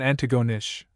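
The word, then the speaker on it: Antigonish: At Antagonish, with the emphasis on the last syllable, let the reader know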